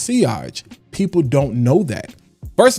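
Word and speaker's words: sillage: It's got crazy silage." No, it's actually pronounced seage.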